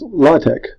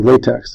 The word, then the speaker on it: LaTeX: If you Google CodeCog's LaTeX, I know it's like latex, but it's pronounced LaTeX because it's not what you think.